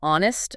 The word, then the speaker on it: honest: Same for honest, an honest person.